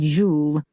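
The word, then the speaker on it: Gilles: She was going to marry a man called Jeeel, spelled with an S, but spoken without it.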